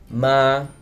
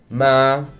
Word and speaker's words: ma: The first tone is a mid-tone, or also called the neutral tone. Ma, ma, which means ghost. So there are no diacritics or no markers on top of the letter A.